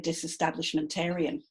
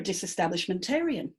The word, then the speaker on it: disestablishmentarian: And if you are really, really, really into taking churches away from the government, you're actually a disestablishmentarian. Aryan, like vegetarian. Aryan. Aryan. 3 syllables there. You're a disestablishmentarian.